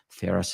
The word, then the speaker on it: Feras: Ferris spelled Feras, like my first name.